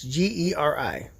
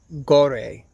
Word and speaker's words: Geri: And I'm pretty sure it's pronounced Gary, just like Gary, but it's Ge Ri. or I guess you could pronounce it um um gore maybe, I don't know, but it's Norse mythical wolf that kept Odin company.